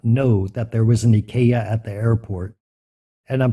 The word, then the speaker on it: Ikea: help desk not know that there was an ikaya at the airport and I'm pretty sure she was thinking what is this crazy person talking about when I left I was looking for Ikea that word is also spelled the same in